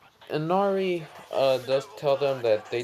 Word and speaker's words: Inari: So now I found it, and it's Inari. Ooh, Anime King brings out something new. Ooh, I'm gonna watch that later. Um, yeah. What's it called? Inari does tell them that